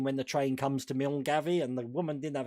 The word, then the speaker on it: Milngavie: And it's like, oh, you mean Mulguy? Oh, okay. But like in Norfolk, even Hunstanton apparently we've all been pronouncing wrong.